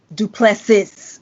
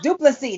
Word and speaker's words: Du Plessis: It's not Du Plessis with the S on the end. No, the S is silent. Okay. So, that's all you had to say. Du Plessis.